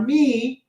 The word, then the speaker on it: mi: Okay, now we have our me.